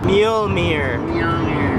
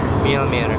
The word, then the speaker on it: Mjolnir: Mjolnir. Mjolnir. That's how you say it. You don't pronounce the J.